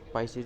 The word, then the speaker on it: Pisces: में आ जाती है, पीसीज में आ जाती है। पाइसीज भी बोलते हैं उसको, जैसे भी आप प्रोनाउंसिएशन करना चाहो, एज यू विश।